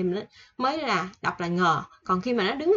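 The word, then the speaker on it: ㅇ: Nè, số 8 là chữ ngờ. Ngờ. Nè, số ngờ của Việt Nam thôi, nghi ngờ, ngờ.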